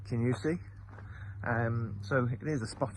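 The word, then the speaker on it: Kingussie: and it is just on the edge of a lovely village it's spelled Kingusi, but I promise you it's pronounced Kinusi.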